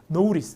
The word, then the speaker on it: notice: 이거는 발음이 노티스가 아니라 약간 오우 발음이죠. 노우, 모음 사이트를 굴립니다. 미국 사람들. 그래서 발음이 notice.